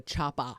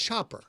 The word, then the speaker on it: chopper: another way but it's chop er with an r so that's very fun